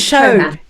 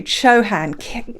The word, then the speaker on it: Chauhan: It's Chauhan. Not Chauhan. Kam Chauhan, who did an amazing presentation for Analytics Day about KPIs.